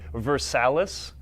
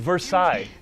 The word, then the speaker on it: Versailles: and it's not fair when people say versaless or buford no it's beaufort and versailles it's hugey not huger